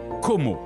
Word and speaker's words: Como: rives italiennes de l'enchanteur lac de com que l'on prononce Como. En italien et anglais.